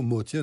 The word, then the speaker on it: Motian: Les deux Motion et Motion. Parce qu'il est arménien. Il est arménien. Il paraît que si on est arménien, ça se prononcerait plutôt motien.